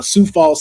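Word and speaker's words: Sioux Falls: had reported that uh Sou Falls South Dakota has their own con which is a um Super Con, but you know it's spelled like Sue.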